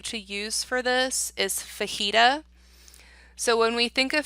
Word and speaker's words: fajita: So the J is actually silent. So the way that I would phonetically spell that to remember how to say it properly might look something like F-A-H-E-E-T-A. Fajita. And that will help you